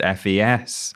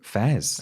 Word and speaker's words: FES: I have just learned from you that it's just pronounced FES.